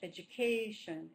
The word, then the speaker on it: education: In English, education, education. So the stress is based on, the beat is based on a stress, it's not based on every single syllable.